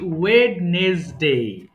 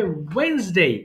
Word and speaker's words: Wednesday: এরপরে দেখো এটা মারাত্মক ভুল কি, আমরা বলি ওয়েডনেসডে, এটা হবে ওয়েন্সডে। এটা ওয়েন্স, ও, আচ্ছা এই যে ওয়েন্স, ওয়েন্স, দেখো ওয়েন্স ডে, এরকম হবে ওয়েন্সডে।